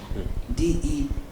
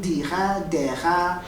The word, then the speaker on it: Dega: DEGA pictures. DEGA pictures. I thought I get Deha. Oh, Dega. Which is why I was spelling it. No, okay, Dega. It's Dega.